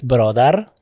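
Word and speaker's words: برادر: In Dari, it's barodar, which is the formal way of pronouncing the word, barodar.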